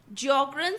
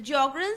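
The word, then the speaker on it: Sjögren: in the disease of jogan syndrome the jogan syndrome the spelling the S is silent and how this jogan syndrome is caused it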